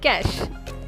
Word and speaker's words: cache: We would pronounce it as cash. Cache is the wrong pronunciation.